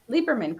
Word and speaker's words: Lieberman: So, am I saying your last name right? Lieberman? Lieberman, correct. Yeah. Lieberman, okay. So the E is silent.